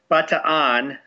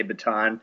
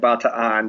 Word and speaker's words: Bataan: butter on yeah no pronunciation is but two on they pronounce every syllable but in America nine times out of ten will say baton I was just at a Filipino event yesterday and a few people said bout to on but they're not going